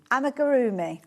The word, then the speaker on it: Amigurumi: Because if I say it quickly, I don't put too few syllables. Amigurumi.